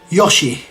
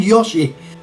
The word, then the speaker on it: Yoshi: is a dinosaur anyway Yoshi I've always said Yoshi does anybody say Yoshi like I said I think there's only two variations there didn't the Yoshi